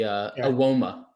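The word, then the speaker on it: Evbuomwan: That's how you pronounce the Ewoma. Ewoma, right? Which is exactly how it's spelled. Ewoma.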